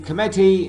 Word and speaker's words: committee: What about in committee and recommend? Second syllable is stressed.